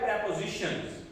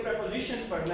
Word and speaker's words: preposition: लफ्ज मैंने आपको बताया था जो इसकी प्रोनाउंसिएशन है वो है प्रेपोजिशंस। आपने प्रीपोजिशंस नहीं पढ़ना बल्कि प्रेपोजिशंस पढ़ना है।